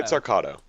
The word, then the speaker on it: Pizzarcato: a combination of pizzicato and arco. Yeah, it's a string this- music yeah. thing. Yeah, and then, of course, it sounds phonetically like 2 T's, right? Yeah. But it's not.